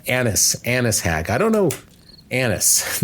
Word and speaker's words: Annis: Annis, not the other one.